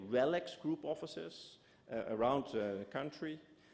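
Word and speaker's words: RELX: couple of centuries before it's part of the relics group that's how you pronounce it relics today Elsevier positions itself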